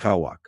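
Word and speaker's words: Cauac: It is called black kawa, pronounced kawak.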